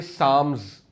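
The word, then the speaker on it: Psalms: और ज़बूर जो है ये साम्स पी एस ए एल एम एस P silent है।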